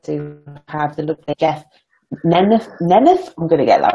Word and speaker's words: Nemeth: The name is actually pronounced Nemeth, but you pronounce it the way everybody else does.